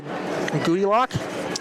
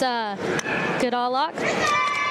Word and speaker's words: Goodallock: Be number 5, Nia Goodillock. It's Goodallock.